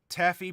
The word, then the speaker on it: Taffy: Taffy, pronounced taffy as in saltwater taffy.